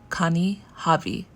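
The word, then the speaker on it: Kani Hobby: amazon japan right now from a seller called connie javi the name is spelled k-a-n-i and then hobby h-o-b-b-y this is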